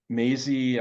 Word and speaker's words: Maisie: Maisie, I love that her name rhymes with amazing because she is amazing.